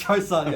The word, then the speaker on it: Joseon: Yeah, it's Chosun.